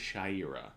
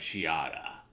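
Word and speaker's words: Shayera: Because it is supposed to be pronounced Shaira. Yeah. But they were like, Shiada. Shauda.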